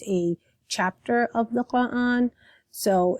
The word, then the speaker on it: Quran: So, just like the word Quran, so I emphasize the qa. Whereas again, if you listen to Zaina's pronunciation, she has a soft K instead of a stronger qa, a throatier qa sound for Quran.